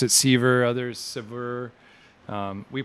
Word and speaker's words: SeVuR: and ultimately break free it's pronounced as sever meaning to separate so aj this has